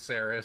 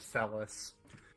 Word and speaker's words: Saris: Her name is Saris, dear. She just likes to say, "Hi, " whenever people mispronounce her name as Celis.